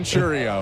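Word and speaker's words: Chourio: want it I don't even know how to pronounce his last name did you look it up yeah all right it's Jackson chrio there you go of the Milwaukee Brewers who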